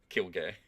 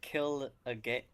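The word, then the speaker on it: Kirge: death or you know kicking his gra and kill gay okay that's how you say his name apparently you said kill a gay you you literally said kill a gay I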